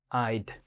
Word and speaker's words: Eyed: It's spelled like literally like e y e, like, you know, eye, but with a d at the back. So, it's like Eyed.